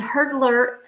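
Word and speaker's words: Hurdlr: glare is there and hurdler again it's not spelled with an e it's Hur DLR and that is your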